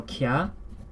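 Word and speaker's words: きゃ: The k is followed immediately by the ya, which makes it a ki sound.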